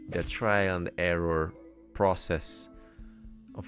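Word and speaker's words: を: trial and error process of how you can learn Japanese, or more like Asian language, without an alphabet that you cannot read by default. And wo, which is pronounced o, as well, deal equal to the stuff.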